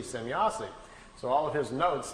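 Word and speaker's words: Semjase: He was trying to write it down phonetically how the name sounded to him. So he wrote it out, S-E-M-Y-A-S-E, Semyazi.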